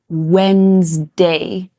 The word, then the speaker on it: Wednesday: This is another one with a sneaky little silent letter. So we pronounce this Wednesday, not Wednesday.